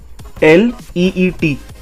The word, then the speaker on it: athlete: We have to focus and emphasize more on TH sound पे हमें ज़्यादा stress करना है.